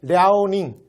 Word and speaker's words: 랴오닝: 근데 이걸 중국 발음으로 하면 여러분 중국 거보다 이렇게 이런 말 못 들어봤어요? 랴오닝성이라고 부르는 거? 그게 요거야. 그러니까 이거 봐. 랴오닝, 그러니까 랴호흐 이렇게 되는 거잖아.